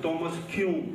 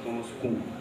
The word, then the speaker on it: Thomas Kuhn: Do Thomas Kuhn, como se fala em inglês, mas a gente fala Thomas Kuhn.